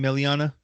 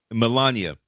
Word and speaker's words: Melania: I'm telling you, how you say her name, Meliana? Mm-hmm. Yeah, I don't even know. Mel. Melania.